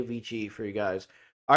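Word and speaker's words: VICI: jump to Vichy properties I know I want to say Wiki because I took classical Latin and that's the correct way to say it so I'll say VG for you guys all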